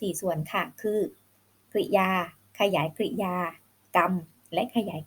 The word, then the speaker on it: กริยา: ให้ เด็ก ๆ ว่า กริยา นะ คะ คือ 2 พยางค์ ไม่ อ่าน ว่า กริยา หรือ กิริยา ก็ ไม่ ได้ นะ คะ อ่าน ได้ แบบ เดียว ค่ะ ลูก คือ คำ กริยา